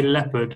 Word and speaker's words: leopard: leopard just be careful we say leopard we don't is silent okay so leopard a leopard